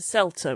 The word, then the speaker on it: CELTA: These are very TEFL related and they all begin with the letter S except for Selta which begins with a C even though we say Selta it's a C.